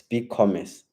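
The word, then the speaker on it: BigCommerce: downloads big commercy uh I feel like I didn't pronounce big Comm right it's big Commerce and then same cut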